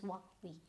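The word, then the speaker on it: Huawei: there, Hua Vi, but when the Chinese actually speak it, it's just Hua Vi, right?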